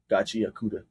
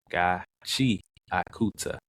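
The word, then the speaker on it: Gachiakuta: There's two separate words and you say them together.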